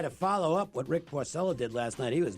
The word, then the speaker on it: Porcello: he did last night I give the Italian pronunciation he's Porcello Porcello ok uh when he